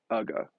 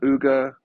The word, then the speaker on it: Uga: capture the royalty that is ugga it's not UGA it's not UGA all these idiots that that don't seem to understand how to pronounce anything also by the way